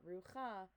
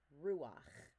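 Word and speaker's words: רוּחַ: So it's not rucha, but it's ruach, luach, siach, koreach, soleach.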